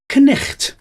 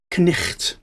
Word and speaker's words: knight: Knight in shining armour, for example, would have been pronounced knicht, because they would have pronounced the K on the front of it, and the GH, the silent GH, which in those days sounded like ch.